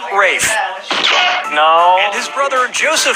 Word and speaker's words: Ralph: fein's first name is spelled like ralph but pronounced rafe no and his brother